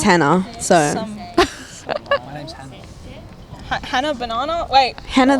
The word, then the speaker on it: Hannah: the banana that's literally the only thing that rhymes with my name sam my name's hannah so my name's hannah